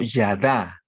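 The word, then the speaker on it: ידע: para el acto sexual se usa el término que se pronuncia como yada no que se expone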